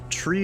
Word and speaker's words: three: even pronounce it correctly tree is how you say three four is how you